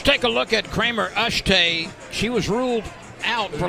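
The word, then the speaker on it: Eschete: it's fouled away is spelled e-s-c-h-e-t-e and pronounced ashtay Heath has been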